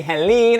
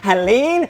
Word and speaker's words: Heléne: my name that is i am so tired of people when they interview if they say helene i'm like what are you doing helene so this is how you pronounce it everyone okay this is how you say it that is for you